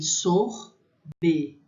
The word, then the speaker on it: sorbet: Então ele tem sorbet, né? Esse T não se pronuncia.